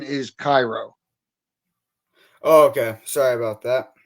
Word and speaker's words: Cairo: So the correct pronunciation is Cairo.